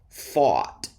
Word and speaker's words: fought: Fought, past tense of fight.